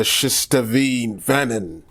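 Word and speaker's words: Shistavanen: Because I wanted a Shistavine Vanin.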